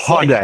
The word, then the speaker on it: Hyundai: It's Hyundai. Like, no, it's like Hyundai. It's Hyundai. Yeah, it's not pronounced how it looks. No, dude, it's totally Korean, and it's Hyundai. Hyundai. That's how they say it.